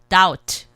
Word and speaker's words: doubt: 그래서 B 소리를 안 내시고 doubt, 예, 그렇게 발음하시면 됩니다.